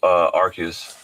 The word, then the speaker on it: Arceus: It's Arceus.